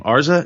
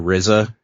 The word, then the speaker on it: RZA: to say his name arza is that how you say it I think people just say the Rizza Rizza okay yeah Rizza